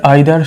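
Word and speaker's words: either: দেখো, নাইদার আইদার সো নর, এই নাইদার আর আইদারকে দুভাবে আমরা উচ্চারণ করতে পারি, নিদার আর ইদার, তোমাদের যেটা পছন্দ, হয়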